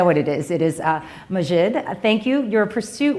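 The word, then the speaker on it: Maajid: pursued I know what it is it is majid thank you you're a pursuit within your Islamic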